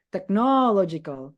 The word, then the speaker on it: technological: Tapi technological, you have to emphasize law. Oke, itu teknolog. Oke. The third syllable. Oke. Suku kata ketiga.